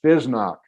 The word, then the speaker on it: FSSNOC: It's the letter F, FSSNOC, which we pronounce FESNOC.